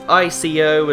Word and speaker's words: Ico: It's ICO, and some people pronounce it Eco and some people pronounce it Ico.